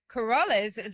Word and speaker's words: Keroles: I am so happy to be sitting here with Christian Keroles.